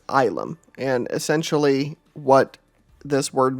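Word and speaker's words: ylem: and the Emperor is, it's spelled Y-L-E-M, and it's pronounced as Ilum.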